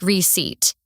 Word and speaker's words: receipt: It's spelled RECEIPT, but the P is silent. You say it like receipt.